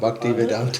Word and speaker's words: Bhaktivedanta: Мат- Bhaktivedanta. Бхактивиданта, мне сложно произносить.